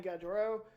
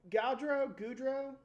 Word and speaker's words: Gaudreau: Columbus, interesting team, like you said, adding Johnny Gaudreau. Is it Gaudreau? Sure. No idea. I mean, it's spelled Gau and then Drew, but I always thought it was I have a Gaudreau.